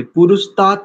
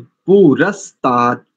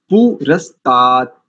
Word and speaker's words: पुरस्तात्: पुरुष नहीं बोलेंगे, पुरुषतात नहीं बोलेंगे, पुरस्तात, पुरस्तात, ठीक है।